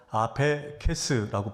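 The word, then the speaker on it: ἀφῆκες: 이 단어는 헬라어 아페케스라고 발음하는 단어인데 두 가지 뜻이 있습니다.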